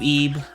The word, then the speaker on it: Ib: on this It's 2D pronounced Ebe.